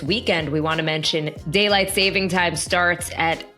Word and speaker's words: Daylight Saving Time: it correctly it is Daylight Saving Time many people like to call it savings time but if you're being accurate here it is Saving Time uh and uh many